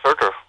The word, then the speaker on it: Surtur: Yeah, Surtur.